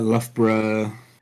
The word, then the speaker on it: Loughborough: yeah is that there's all the others that have just Borough at the end or bruh at the end as we pronounce it as bruh Bruh Bruh Edinburgh Loughborough yeah I did not